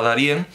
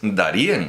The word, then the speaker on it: Darién: están llamando ya de pero es darían O sea la idea era Darién y originalmente se pronunciaba con acento en la e es como alguna vez